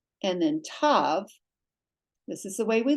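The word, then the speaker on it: ת: And then tav, this is the way we learned it. Tav with the dageysh is a hard T, as in Thomas. Without the dageysh, it's a soft S, pronounced as sav.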